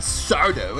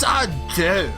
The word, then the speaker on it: Sardo: It's not Sardo. It's Sardo. Accent on the D.